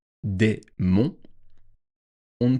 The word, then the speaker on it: monts: entre le mot mont, M-O-N-T-S, et le mot et, E-T. Il y a un S au mot mont, mais on ne le prononce pas. Des monts, on ne prononce pas le S.